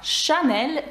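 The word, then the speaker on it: Chanel: хоч вона і приголосна А давайте наразі поговоримо про марку anel ви бачите що lл наприкінці теж читається бо це виключення А чому на початку сполучення с читається як ш тому що це правило с аш у французькій передає звук ш і марка Шанель тому дуже яскравий приклад давайте згадаємо відомого французького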